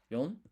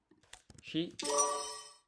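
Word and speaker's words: 四: you can put in yon, you can put in shi, you can say it's both of them, yon and shi, you can put shi and yon, right?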